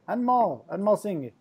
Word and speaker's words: Anmol Singh: Anmol Singh. Perfect. I pronounced it proper, didn't I?